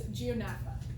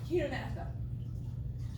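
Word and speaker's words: Chaetognatha: The G is silent, and it's Chionotha. All right. Sorry, Chionotha.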